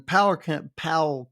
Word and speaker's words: Powell: He's a county extension agent for agriculture and natural resources there in Powell County. I need to say it correctly. Is that correct, Jason? That's where you're at. That But is correct.